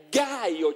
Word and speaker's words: Caio: Ecco perché si scrive Caio Giulio Cesare, ma è Gaio Giulio Cesare.